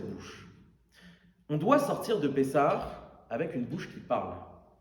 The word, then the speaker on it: Pessah: Déjà vous savez que la fête de vous savez que la fête de pessar paressar c'est deux mots quand on prononce c'est p et sar.